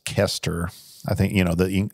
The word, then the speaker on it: Koester: in the fourth gospel and how do you pronounce the author's name i'm going to mess it up uh kester it's craig kester i don't want to say keister well you could i could say easter but